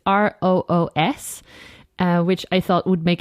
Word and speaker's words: Roos: I'm Plant with Roos on Instagram, and Roos is the Dutch spelling of rose, so it's Roos, which I thought would